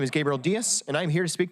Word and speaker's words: Diaz: And just as a minor correction, my last name is pronounced Diaz, which is a different Diaz.